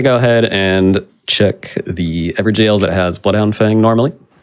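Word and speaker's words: Evergaol: It's the old Everjail. English spelling of the word jail. It's pronounced the same.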